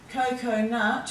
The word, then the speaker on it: coconut: Coconut, you've got two long O sounds in that, and we know before A and O, we always use the C for the sound.